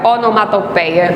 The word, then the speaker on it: onomatopeia: A onomatopeia, adoro pronunciar essa palavra, onomatopeia. Lembra de centopeia? Não esquece de onomatopeia nunca.